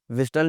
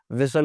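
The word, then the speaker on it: whistle: व्हिस्टल नहीं बोलते, सीटी बजाना, व्हिस्टल नहीं होता, व्हिसल होता है।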